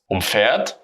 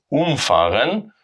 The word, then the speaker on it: umfahren: And if we pronounce it umfahren, we have the stress on the prefix, and then we separate it.